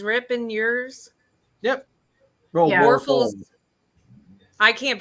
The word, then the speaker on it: Warfels: Warfels. I can't pronounce know it, about so that. whatever it is, it is. Sorry. Oh, Just say war and then full.